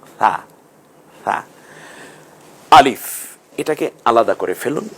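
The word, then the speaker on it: ث: এখন এই 3টাকে আমরা মিলিয়ে পড়ে, সাটা নরম আওয়াজে জিহ্বার আগা সামনের দাঁতের আগার সাথে মিলিয়ে উচ্চারণ করুন, সা সা।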